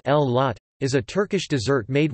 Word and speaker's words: Güllaç: Güllaç, pronounced L-lot, is a Turkish dessert made with milk, pomegranate and a special kind of pastry.